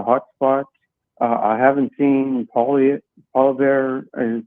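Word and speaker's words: Poilievre: I haven't seen Polyev, is that how you say it, come by? Polyev, yeah, but anyway.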